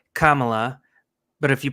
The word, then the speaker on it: Kamala: No, I think they said it's it's pronounced Kamala, but if you pronounce it Camala, you're racist.